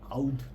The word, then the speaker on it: oud: call it in like if you follow Middle Eastern pronunciation it will be like UD oud you know so this